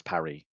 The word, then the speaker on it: Paris: Like Paris isn't actually Paris is it? Parry.